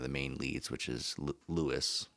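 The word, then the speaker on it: Louis: main leads, which is Lewis, also pronounced Ruis in the Japanese, how it should be actually pronounced.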